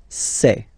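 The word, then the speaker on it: ces: and for the plural say say really open this e say Okay so let's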